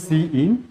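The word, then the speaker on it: cin: সবগুলোই ছোট হাতের হবে, উচ্চারণ হবে সি ইন সি আউট, যদিও একটা শব্দ সি আই এন, কিন্তু উচ্চারণ করতে হবে মানে আলাদা আলাদা হবে, সি ইন আর এটা হচ্ছে সি আউট।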